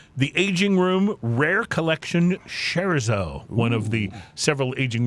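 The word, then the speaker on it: Scherzo: I was saying, but Skzo is how you say.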